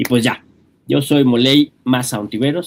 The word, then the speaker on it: Molay: Y pues ya, yo soy Moley más. Se escribe molay, se pronuncia moley.